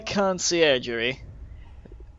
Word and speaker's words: Conciergerie: Ah, the Conciergerie.